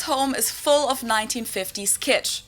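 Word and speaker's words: Kitsch: is full of 1950s kitch it means the same thing in German and in English and it's also pronounced the same there's also the English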